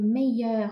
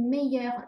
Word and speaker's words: meilleurs: 这个 meilleurs 加了 s 哈，这个 s 不用发音哦。